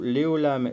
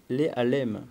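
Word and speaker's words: לעלם: Et Rachid dit ceci, le mot Léolam est écrit sans la lettre Vav, c'est-à-dire la lettre Vav de support qui permet de faire le O en hébreu, de manière à être lu Léalem, pour nous dire, tiens-le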